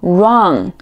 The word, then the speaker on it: wrong: 类似的词还有很多，比如说 write write 书写，还有 wrong wrong 错误。